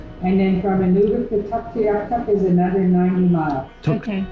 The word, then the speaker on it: Tuktoyaktuk: And then from Inuvik to Tuktoyaktuk is another 90 miles. Okay. Tuktoyaktuk. This is how it looks. Tuk, Tuk. toy, Tuktoy. yak, Yak. tuk. Tuktoyaktuk.